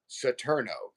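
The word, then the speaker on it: Saturno: And then vibrate satno s a tur n o that's the Spanish version of Saturn.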